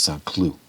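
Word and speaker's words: Saint-Cloud: Cloud, and then in French you don't pronounce the suffix, so it's Saint Cloud.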